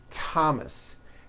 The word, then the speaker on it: Thomas: Although these next words and names are spelled with a TH, they are pronounced as if they were spelled with a normal T, like that. And these words are Thomas, Thompson, Teresa, Thailand, Thames,